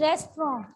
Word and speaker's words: restaurant: Its pronunciation is restaurant. Don't speak rent, it is restaurant.